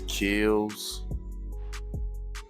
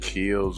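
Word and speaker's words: Kilz: I used a gray primer, and I use a primer called, I think it's Kills. It's either pronounced Kills or Kales, K-I-L-Z.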